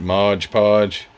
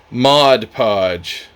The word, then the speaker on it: Mod Podge: the videos here recently cuz I caught it Modge Podge well give me a break I can't even